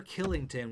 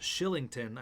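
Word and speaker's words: Kylington: Oliver Killington, which is actually pronounced Shillington, I learned the other day.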